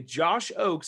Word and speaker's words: Ochs: me say the word josh oakes now i have a weird last name so it's german it's kind of weird it's pronounced o-a-k-s even though it's spelled o-c-h-s if i click this